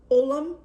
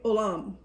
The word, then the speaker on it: olam: In the Aramaic, the word is olam. It's actually, in Greek it's spelled one way, and in Aramaic it's spelled another way. Basically, olam, like O-L-A-M.